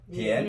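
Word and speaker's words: 点: 디엔. 디엔. 점자는 우리 한자 발음 점자가 뭘 바뀌어?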